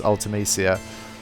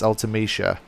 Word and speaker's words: Ultimecia: in most people's heads so me along with a lot of other people that I was reading on the forums pronounces ultimecia but apparently in the city is ultimecia so I think it's one of those ones where you take your pick they're not hugely different